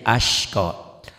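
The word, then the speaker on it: أشقى: Ya, berasa ya sinnya gede. Tadi kurang sinnya aja, ashqa.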